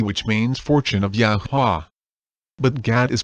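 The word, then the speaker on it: YAHUAH: spell as y-a-h-u-a-h and it is pronounced as yahuwah as you can see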